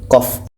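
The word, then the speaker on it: ق: baru bisa betul bacaannya ini tidak boleh dibaca Q tapi qof dan Q ini dibaca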